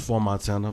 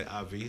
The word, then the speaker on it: IV Montana: It's pronounced For Montana, but a lot of people say IV.